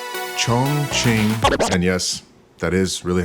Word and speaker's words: Chongqing: Chongqing.